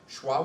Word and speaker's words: schwa: Okay, schwa would be like the way you say E in Detroit, Detroit.